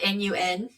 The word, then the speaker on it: Nun: So non is like the water god and it's non is spelled n u n but non non nun but um he is